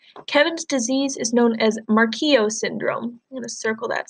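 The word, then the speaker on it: Morquio: of our book Kevin's disease is known as Mark EO syndrome in a circle that since that's in bold pronounced mark EO Rodman describes mark EO syndrome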